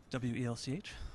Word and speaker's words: Welch: W-E-L-C-H. Yeah, how do you pronounce spell it all the time. W-E-L-C-H. What do you say? Welch. Welch. Just like the that. Grape juice.